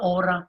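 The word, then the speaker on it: hora: on the alphabet pronunciation h is silent so whenever you see h we pronounce it silence means one hour one hour feminine subject notice you and just all masculine uma feminine so una ora means one hour when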